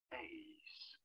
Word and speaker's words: ace: You're looking at how to pronounce this word in English. How do you go about saying it? Ace.